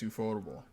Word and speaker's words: Ufotable: Mappa, or is it Ufotable? Ufotable? Ufotable? Okay. Everybody, it's always. I always said UFO table, and I don't think that's that's definitely not the right way to say it.